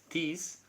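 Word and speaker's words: τοῖς: Ese por está implícito en la palabra tis, se escribe tois, tis, y es porque te está tratando de decir que la muerte es debida a eso.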